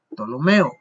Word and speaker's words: Ptolomeo: señor que es Ptolomeo, porque la P no se dice en español, hay un chiste pero no lo voy a contar, ¿verdad? Entonces Ptolomeo en portugués sí, en Brasil les dicen psicólogo, ellos dicen Ptolomeo, sí, ellos pronuncian la P, pero en español nosotros no.